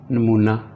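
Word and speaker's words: knee: नी घुटना, इसमें के साइलेंट है, के की आवाज़ नहीं निकलेगी, ये होगा नी घुटना।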